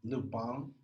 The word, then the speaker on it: Lupin: okay uh watching um Luke bomb on Netflix it's spelled Lupine but for that be foreign so it's essentially about